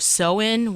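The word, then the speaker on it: Samhain: have sort of this ancient Celtic tradition of seen which is not does not sound the way that it's spelled but I learned today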